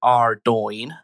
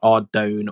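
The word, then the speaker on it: Ardougne: The pronunciation is Ardone, not Ardone or Ardogy.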